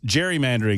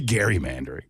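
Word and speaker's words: gerrymandering: Well, because Jerry Mandering is named after him and we all pronounce it wrong. Oh, it's really Gary Mandering.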